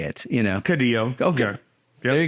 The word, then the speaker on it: Caudillo: Caudillo.